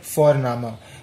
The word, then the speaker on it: Vorname: As I said earlier, V is pronounced as F, so here it will come, wie ist Ihr Vorname?